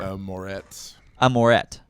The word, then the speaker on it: Moretz: Moretz. Moret. Yeah, Z is silent.